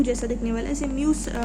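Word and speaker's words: μ: जैसे कि डेंसिटी और रिफ्रैक्टिव इंडेक्स, जिसे हम म्यू प्रोनाउंस करते हैं, जो आपके सामने ये लिखा है ना यू जैसा दिखने वाला, इसे म्यू प्रोनाउंस करते हैं।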